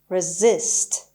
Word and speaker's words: resist: و سریع کلمه بعدی resist. همونطور که میبینید زی رو محکمتر میگم، صدای ز رو محکمتر میگم. So the stress is on Z, on S actually, but Z sound.